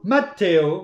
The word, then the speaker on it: Matteo: Tu vas le prononcer à l'italienne parce que c'est ce que tu as dit. Donc Matteo, voilà.